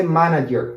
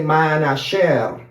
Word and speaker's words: manager: And we will not say manager, we'll say manager. Yeah, why? Because G, the English G, we pronounce it differently.